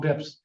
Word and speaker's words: bps: year was up 12 bips today that sound does that sound like a college student sounds like a finest professional 12 bips 12 basis points bips is spelled BPS the other question is